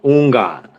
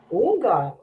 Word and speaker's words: Houngan: It's like the H is silent, so like Houngan. Houngan.